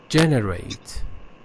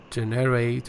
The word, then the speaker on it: generate: Generate, you said generate or something, but the first syllable is stressed.